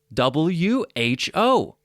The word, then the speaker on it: who: same pronunciation number four who w-h-o has a silent w who who let the